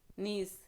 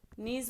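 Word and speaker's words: gneiss: इसको इंग्लिश में नीस बोलते हैं। इसमें जी साइलेंट है, जी साइलेंट है, याद रखिएगा आप लोग। इंग्लिश में इसको नीश बोलेंगे और इसमें जो जी है वो साइलेंट है।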